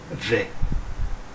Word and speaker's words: vais: voir et on a je vais là attention le s est muet à la fin conjuguons le verbe aller